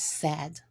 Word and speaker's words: said: The A and the I just says eh here. So it's said.